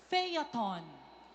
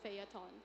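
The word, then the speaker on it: phaeton: Fyaton. Fyaton is spelled B H A E T O N. Faton.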